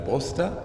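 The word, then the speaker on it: brossèta: Eux, ils ne prononcent pas le « et ». Donc, ce que j'écris avec « e » accent grave, eux, dans la graphie serrée, ils peuvent retirer l'accent. Et comme ça, on sait qu'ils ne prononcent pas ce « e ». Et on comprend le mot brosta.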